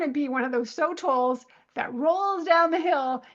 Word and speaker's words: sotol: And there's a plant, I don't know how to pronounce it. It's s o t o l, sotol.